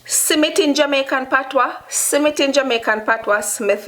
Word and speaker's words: simmit: this surname in jamaica smith this is simmit simmit s-i-m-i-t submit but the word is smith smith smith smith in english submit in jamaica and patwa simmit in jamaica and patwa